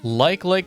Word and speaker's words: Like Like: Is it are they like likes or is it like le with the same like sound as in I like you. It's not pronounced leak leak.